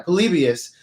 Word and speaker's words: Polybius: video game in the back um is it polybius is how you pronounce it yeah polybius that is a urban legend um that video